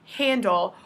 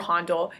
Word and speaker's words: Handel: lecture is George Frederick Handel or Handel it's pronounced either way 1685 to 1759 Hindle